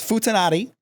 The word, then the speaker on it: futanari: we're also talking a different language, so maybe the pronunciation's just different. It's futanari, and it refers to chicks with dicks.